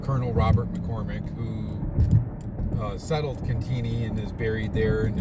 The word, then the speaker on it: Cantigny: It's pronounced Cantigny, I think, but a lot of people call it Cantigny.